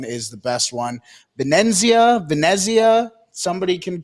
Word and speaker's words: Venezia: Uh Vanzia, I never say it right. Venezia always comes out with fantastic kits and in 2021 22 they came out with a really nice away kit.